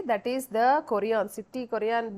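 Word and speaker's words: chorion: you are saying it correctly that is the koreon city Korean B Kalani koreon exactly so the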